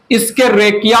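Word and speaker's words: Escherichia: ठीक है, सो extensive study जिस बैक्टीरिया का हुआ वो है इसके रेकिया, इसके रेकिया प्रोनाउंसिएशन है ESCHERA, इसके रेकिया, ESCHE, इसके रेचिया coli, E coli bacillus bacteria है।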